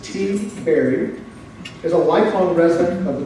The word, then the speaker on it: Tiberi: Pat, whose last name is pronounced T. Berry, is a lifelong resident of the 12th Congressional District where he serves.